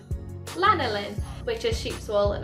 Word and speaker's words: lanolin: comes from i can never say it right lana lin lanolin which is sheep's wool and obviously wool is